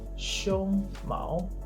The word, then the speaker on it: 胸毛: If you say 胸毛, the first is a flat tone and then the rising tone, that means chest hair.